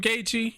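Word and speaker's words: Gaethje: justin gaichi versus conor mcgregor that's how you pronounce his damn name gaechi oh man and then and then have habib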